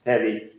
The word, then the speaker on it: Tevi: I would say Felo Akitau Kao Tevi. Tevi, yes, okay. Tevi, short.